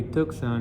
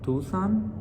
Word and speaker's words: Tucson: a city name is tuxen in spanish we say took son and one time i was talking to somebody and i'm like are you going to tucson and he goes like you mean tucson and i'm like yeah